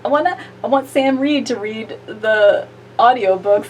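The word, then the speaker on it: Sam Reid: It is Sam Reed.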